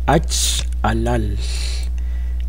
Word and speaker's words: achalal: Notemos acá originalmente el término es achalal. La L al final se pronuncia de una forma un poquito más líquida. Achalal.